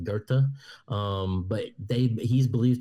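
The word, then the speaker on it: Goethe: back to right so getting into Gerta or goth right go t h um the Germans pronounce it Gerta um but they he's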